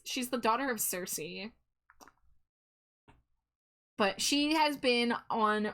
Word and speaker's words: Cersei: She's specifically the daughter of Sice or Cersei. Cersei. I got the ghost the ghost song took over and I pronounced it the ghost song way. But uh it's it's she's the daughter of Cersei.